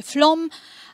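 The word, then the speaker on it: Flåm: Proszę Państwa, niektórych słów się nauczyłam, jak je wymawiać, więc wiem, że na przykład pisze się flam, mówi się flom, ale części wymowy nie jestem pewna, za co od razu przepraszam.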